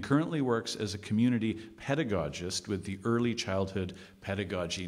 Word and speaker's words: pedagogist: Can you tell us a bit about your role as a pedagogist? Actually, I should have confirmed the pronunciation of pedagogist.